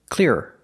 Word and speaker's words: clearer: And it doesn't matter how fast I say it, it's still 2 syllables. The first word, clear. The second word, clearer.